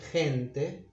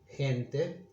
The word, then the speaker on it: gente: When it's followed by these vowels, it's pronounced H, as in gente, people, gente.